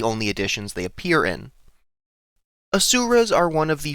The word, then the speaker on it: Asura: And what better way to start than with one of the lesser known celestial races, the Asuras. So, let's get into it. The Asuras, pronounced Asura, can be referred to